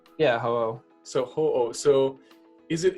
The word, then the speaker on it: Ho-Oh: Ho-Oh, right? Yeah, Ho-Oh.